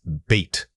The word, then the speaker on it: beat: The word is beat. Say it again. Beat. For this word, you need to hold that e sound for a noticeable length of time.